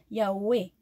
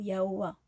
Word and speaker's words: Yahweh: que le saint nom de Yahweh notre Elohim se prononce Yahweh, hein, ou Yahoua.